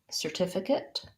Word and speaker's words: certificate: can hold my certificate i'm going to have um second syllable stress this c says the s sound my er says er sir just like the word s-i-r or the beginning part of the word serve i'm going to have my